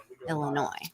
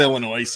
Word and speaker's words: Illinois: in the Wilds of Illinois no it's not Illinois it's Illinois silent yes and what may